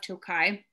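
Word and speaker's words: Tokaj: region um was named after the village of tokai which is not spelled t-o-k-a-j-i it's feel it's spelled t-o-k-a-j still pronounced the same uh and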